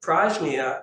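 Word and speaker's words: prajñā: So prajna combines pra, which means before, with nya, which is hard to pronounce on its own, But prajna, so it means, the second part means knowing. So literally, prajna means before knowing.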